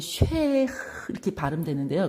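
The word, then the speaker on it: שה: 이 쉐 이게 뭐랄까 거의 이거는 쉐 이렇게 발음되는데요. 거의 뒤에 거는 거의 발음 안 나고 그냥 쉐 이렇게 하거든요.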